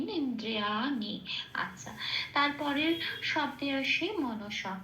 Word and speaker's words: মনসা: আচ্ছা তারপরের শব্দে আসি মনসা কোন হসন্ত নেই খেয়াল রাখতে হবে প্রত্যেকটা অক্ষর ধরে ধরে পূর্ণরূপে উচ্চারিত হবে মনসা এটা তাহলে প্রথম লাইনের